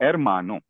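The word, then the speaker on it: hermano: तो इसका जो नेचुरल स्ट्रेस है वो सेकंड लास्ट लेवल पे है। सेकंड लास्ट लेवल यहां पे मां है। तो एरमानो क्लियर।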